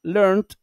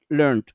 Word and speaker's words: learned: A la hora de pronunciarlo suena lo mismo, porque esta ED suena como una T fuerte, learned, y aquí sería learned.